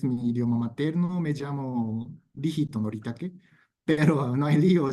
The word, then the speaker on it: Rihito: En la pronuncia de japonés, mi idioma materno, me llamo Rijito Noritake, pero no hay lío llamarme así en la pronuncia de español, así como Rito o Rito.